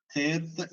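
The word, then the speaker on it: ܛܝܬ: അടുത്ത അക്ഷരം സുറിയാനിയിലെ തേർത്ത് എന്ന് പറയുന്ന അക്ഷരമാണ്. മലയാളത്തിൽ പറയുകയാണെങ്കിൽ തായാണ്. താ എന്നോ ഠ എന്നോ പറയാം. അപ്പൊ ഇത് ടി എന്ന് പറയുന്ന ഉച്ചാരണത്തിലാണ് വരുന്നത്. ഇംഗ്ലീഷില് പേര് തേർത്ത് എന്നാണ്.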